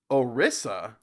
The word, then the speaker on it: Odisha: I know most of these um yeah wait orisa I thought it was odisha have I've been mispronouncing this the whole time have I really